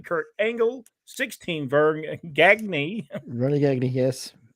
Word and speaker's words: Gagne: Vern Gagne, yes. It's correct. Correct pronunciation, yes.